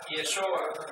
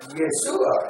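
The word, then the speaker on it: ישוע: en la yesua y así se pronuncia yesua yesua como si fuera la ye algunos tratan de pronunciar yeshua eso es como estábamos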